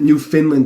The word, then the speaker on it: Newfoundland: Newfoundland. Put the emphasis on the new, not the fin, which is like an FN, not even an I. Because I pronounced it Newfoundland before, but all the